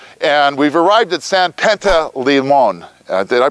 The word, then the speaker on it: Panteleimon: of Mount Vodna, and we've arrived at San Panteleimon. Did I pronounce that right, Alex?